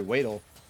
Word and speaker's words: Wadle: Weedle throwing the dagger back, going, or sorry, Wadle, my boy Wadle. I promised I would never mispronounce it again.